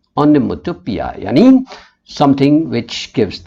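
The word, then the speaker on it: onomatopoeia: ठीक है, रोर्स जो है वो पोएटिक डिवाइस है ओनोमेटोपिया, right, the pronunciation is पिया, ओनोमेटोपिया, यानी something which gives the sound effect.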